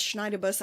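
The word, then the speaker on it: Schneiderbüste: want to call it in German it's Schneider bus I got her in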